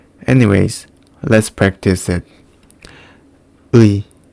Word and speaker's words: 의: The correct pronunciation is 의. And it feels like pronunciation ư and 이 quickly. 의. In some cases, it is pronounced as ư or 이. And also some people just pronounce it as or e.